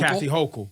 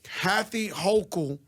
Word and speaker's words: Kathy Hochul: How do I pronounce her name? Correct? Kathy Hochul. Kathy Hochul. Kathy Hochul, 2 days in becoming intern governor.